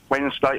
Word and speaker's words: Wednesday: the week Paul Wednesday no no Wednesday it's Wednesday it's w w wedding's day there's a d I love the way